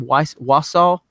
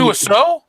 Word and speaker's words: Wiseau: Wassau? How do you say his name? Tommy Wiseau?